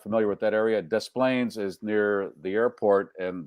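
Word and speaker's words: Des Plaines: It'd be nice if we pronounced it deplain because that would be more in keeping with the airport, but you know, it's displayplains.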